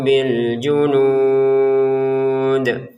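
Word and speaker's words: بِالْجُنُودِ: Kalau kita berhenti di sini, maka panjangnya nud ini ada berapa? Enam harakat. Kemudian dalnya kita pantulkan bil junud gitu.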